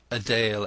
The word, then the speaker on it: Adele: the teeth and gums Adele and Bernard pronounced adale and Bernard the two children strutted